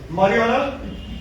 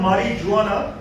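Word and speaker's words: marijuana: मारिजुआना, basically देखिए इसका pronunciation ये लिखते हैं मारिजुआना, करेक्ट प्रोनाउंसिएशन है मारिजुआना।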